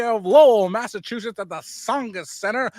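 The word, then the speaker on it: Tsongas: Lowell, Massachusetts at the Songus Center. That's a silent T for all you local people, the Songus Center.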